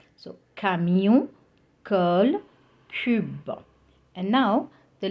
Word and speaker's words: camion: So here, C followed by A, O and U, and we read it like K. Okay, we pronounce it as K. So, camion, curl, cube.